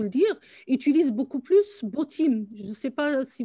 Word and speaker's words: Botim: Je vais vous dire B-O-T-I-M. Tu peux nous mettre dans le chat. Hein. Ah oui, avec grand plaisir, bien entendu. Botim, je pense Botim ou Botim, oui, je pense qu'on prononce ça comme ça.